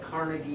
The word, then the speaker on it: Carnegie: second wealthiest American was Andrew Carnegie it's actually pronounced Carnegie he's an Irish immigrant and he made his